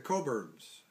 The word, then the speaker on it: Cockburn: The Coburns, and it's spelled Cockburn.